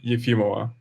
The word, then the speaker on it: Efimova: Correctly pronounced my name is Andrei Minakov. Uh-huh. Yeah, but interview with Yulia is Yefimova.